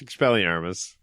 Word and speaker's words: Expelliarmus: Yeah, it's Expelliarmus.